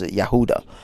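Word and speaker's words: Yehudah: but that's i say his actual uh aramaic name is yahudah uh because the word the the letter j is pronounced yay in in aramaic and also i think hebrew uh so that's why these names that all have j's don't actually are pronounced with j just like jehovah it's not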